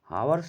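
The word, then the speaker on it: hours: जज been teaching for आवर्स आवर्स लिखा है इसमें एच साइलेंट होता है और जो वावेल्स होते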